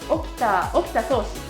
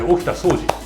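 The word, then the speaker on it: 沖田総司: Okita-san… Okita Soushi… BINGO! Yes, OKITA SOUJI OKITA SOUJI You can pronounce it Okita "Soushi" as well… Wow, I can’t believe you answered this correctly!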